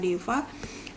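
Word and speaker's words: देव: Kalau tulisannya, karena bahasa Sanskerta tidak mengenal huruf W, tapi pengucapan W ya, tulisannya atau hurufnya adalah V. Jadi untuk penyebutan kata deva, terjemahan dalam bahasa Indonesia misalnya itu adalah dewa atau raja.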